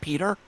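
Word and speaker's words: Piotr: It's pronounced Peter. Or Peter.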